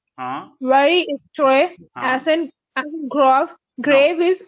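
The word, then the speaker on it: très: Tre grav. Tre. No. Tre. Very is tre. Very Okay. is tre. Very Like this. is tre. Uh, Very is tre.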